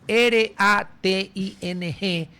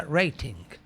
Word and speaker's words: rating: Se escribe r a t i n g y se pronuncia rating. Acá le dicen rating. Bueno, rating con e y sin g.